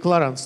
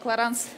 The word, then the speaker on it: Clarins: теперь буду бить и кларенс тоже чтобы заполнить надолго миль на произносится если бы это был американский бренд но так как кларанс бренд французский то немножечко по-другому сожалению к сожалению французский